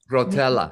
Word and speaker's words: Rotella: Rotella.